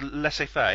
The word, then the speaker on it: laissez-faire: Is that different to laissez-faire, or how you pronounce it? No, it's laissez-faire.